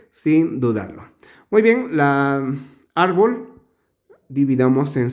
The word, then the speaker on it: árbol: dudarlo muy bien la árbol dividamos en sílabas tenemos momento ar bol de esta manera donde se pronuncia con la mayor fuerza de voz aquí árbol muy bien enumeramos uno